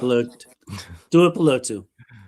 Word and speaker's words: Tuipulotu: year, they rotated Owe and Mac and Tuli Tuipulotu. Yeah, Close enough. Tuipulotu. There you go. By the end of the night, I will pronounce these Hawaiian and Samoan and Pacific Island names correct.